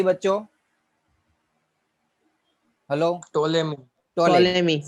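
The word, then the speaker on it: Ptolemy: टोलेमी। शायद P silent word है, टोलेमी word उसको प्रोनाउंस करते हैं।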